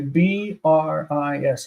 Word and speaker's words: bris: say you know for for circumcision you say b r i s bris and everyone says that that is a